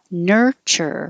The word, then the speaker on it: nurture: kitchen and chicken nature nurture when you say this one curl your tongue back ner nurture nature versus nurture this